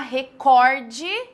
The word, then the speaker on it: recorde: Recorde, paroxítona.